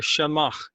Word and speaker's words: shemagh: today we're going to tell you about the shamash that's how it's actually pronounced Shama it's a GHI Jamaa and this